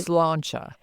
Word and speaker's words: sláinte: When you toast someone in Ireland, you don't say cheers, you say sláinte. And I want to make sure, again, I'm pronouncing that correctly because I don't want to